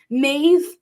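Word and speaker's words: Meabh: easy but for some people it's really weird mave M EA b h that would be how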